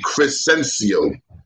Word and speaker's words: Crescencio: My first name is really Crescencio. That's a hard name, Crescencio. That's my real name. That you spell that C-R-E-S-C-E.